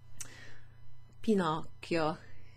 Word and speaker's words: Pinocchio: C, but you have a C and an H, which is a K sound. Occhio. Okay? Last time I mentioned Pinocchio, Pinocchio, as many English speakers would pronounce it, which means pine eye. like a wooden eye, like a little wooden toy. So Pinocchio has the word eye in his name, okay, and that's how you pronounce it, Pinocchio.